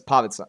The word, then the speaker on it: Pavica: It's pavitza. Pavika. Everyone thinks it's pavika, but I say pavitza.